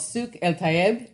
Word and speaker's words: Souk El Tayeb: So Kamal created the first farmers market in Beirut, Lebanon, which is called Souk El Tayeb. Did I pronounce that one right?